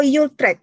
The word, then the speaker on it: Utrecht: Utrecht or Utrecht bacanya tuh? Nah, Utrecht kalau Belanda.